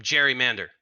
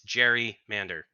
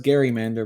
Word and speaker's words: Jerry Mander: It's Jerry Mander. I think it's pronounced Gary Mander, but that's besides the point. Not for me. My name is. I mean, I think I would know my name.